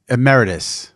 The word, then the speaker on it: Emeritus: I can't say Emirates. How do you say Emirates? I don't know how to say it. It's Emeritus. Emeritus. Yes, I say it wrong every time.